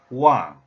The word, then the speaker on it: 王: When this character is pronounced wang, the tone number 4, this one, wang, which means to rule, to reign over, or to govern.